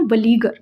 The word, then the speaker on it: beleaguer: इसका प्रोनाउंसिएशन है वलीगर, BELEAGUER।